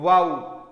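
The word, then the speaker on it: woe: किसी भी वर्ड के एंड में आए हुए ओ को औ बोला जाएगा। उसी प्रकार से डब्ल्यू ओ ई का वो नहीं होगा, क्या होगा प्यारे बच्चों? वाउ।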